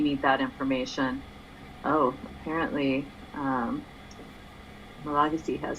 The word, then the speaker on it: Malagasy: Oh, it was of course Malagasy. Right? That's the correct way to say it, isn't it? I don't know if that's one of the 8 million ways I've tried saying it. Malagasy is the usual way.